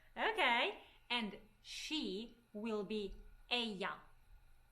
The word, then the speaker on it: ella: And she will be ella. Ella. All right. Here I need to stop. We have double L. In different Hispanic countries, double L is pronounced differently. Sometimes people say ella, sometimes people say ella.